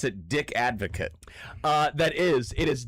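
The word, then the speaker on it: Dick Advocaat: I would pronounce it Dick Advocate. It is Dick Advocate.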